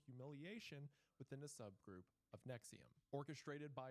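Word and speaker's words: NXIVM: On November 10th, 2025, television actress Alison Mac debuted a new podcast called Alison After Nexium. Although you would never guess Nexium's pronounced that way if you look at it.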